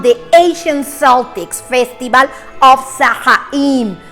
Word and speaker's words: Samhain: Well, the origin of Halloween dates back on the ancient Celtics festival of Samhain, pronounced so in.